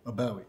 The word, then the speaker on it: Abawi: Abawi.